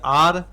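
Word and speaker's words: hour: अगर लिख दिए आर तो यहां आ का उच्चारण होता है तो आर्टिकल एन आर हो गया।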